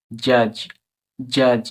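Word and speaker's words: judge: silence এরকমভাবে একই রকমভাবে এই শব্দটি দেখবো জে ইউ ডি ইজি জাজ জাজ এখানে ডি এর কোন উচ্চারণই হচ্ছে না ডি প্রোপুরি সাইলেন্স কিন্তু এটাকে লিখতে গেলে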